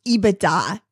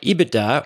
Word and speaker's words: EBITDA: Yeah, EBITDA, or EBITDA, pronounced both ways, I've heard, is earnings before interest, taxes, depreciation, and amortization.